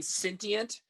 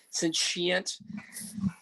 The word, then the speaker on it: sentient: my kids tricked me i kept saying sentient because that's how it's spelled when i look at it but apparently my freshman and high school son told me that the ti is pronounced as a as a sentient sentient sentient being i mean this